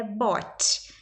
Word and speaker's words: bought: Só que tem o GH ali no meio que você escreve ele, mas você não fala.